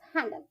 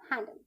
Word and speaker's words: handle: Pronunciation of हैंडल, HANDL, हैंडल। बच्चों यहाँ पर ई साइलेंट है, HANDL, हैंडल।